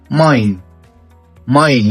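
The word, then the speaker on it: mein: مقطع الاي اي عندنا في اللغة الألمانية بنطق اي zum Beispiel ماين يعني حاجتي.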